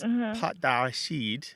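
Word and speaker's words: pâté: Google failed you because what you're saying in French is PID which means peanut paste and it's spelled p a t and there's a circumflex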